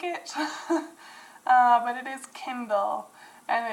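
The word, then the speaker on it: Kyndal: people who like it uh but it is Kindle and it's spelled k-y-n-d-a-l that is number 982.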